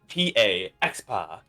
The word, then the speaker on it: Exapa: My full name, it's said weird, is spelled EXAPA. Expa.